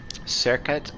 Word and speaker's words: Serket: Serket is the Egyptological pronunciation, so it's spelled in hieroglyphs like S-R-Q-T.